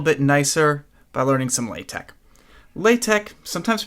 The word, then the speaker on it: LaTeX: Today we're going to make our nerdy Quarto documents look even a little bit nicer by learning some LaTeX. LaTeX, sometimes pronounced LaTeX, is technical typesetting software that's incredibly powerful, very